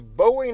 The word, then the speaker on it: Bowie: it's a fighter now the Bowie knife that we think of today or Bowie knife and listen I could give two shits how anybody pronounces it I promise you that I call it a buoy knife it is what it